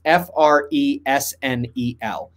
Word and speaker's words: Fresnel: But it's spelled weirdly. It's Fresnel.